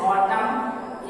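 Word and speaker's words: autumn: Silent N, इसका एक नियम है when used after n, जब यह n के बाद आता है तो n साइलेंट होता है। जैसे ऑटम ए यू टी यू एम एन, एम के बाद है n साइलेंट होगा, इसलिए यह इसका सही प्रोनाउंसिएशन हो जाएगा ऑटम।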